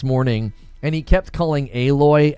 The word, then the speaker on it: Aloy: Anyway, I watched a I watched a Force Gaming video this morning and he kept calling Aloy Alloy.